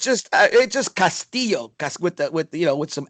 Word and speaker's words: Castillo: Did you see Luis Castillo or Castillo? I mean, how do you pronounce? I'm just a country boy down here in Texas. So what is it? It's Castillo.